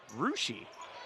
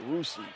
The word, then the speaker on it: Russia: For it seems like common words, there are a lot of different pronunciations for words. I'm going to say Russia. Ooh, Rushi. Rushi, okay, Rushi.